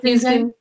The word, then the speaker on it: Houston: Houston.